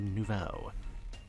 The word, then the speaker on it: Nouveau: This is Grisham, one of my comrades in Team Flare Nouveau.